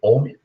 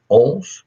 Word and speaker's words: Ohm: escreve o hm mas não se lê homem você lê ou porque um sobrenome de um cientista alemão e se você tem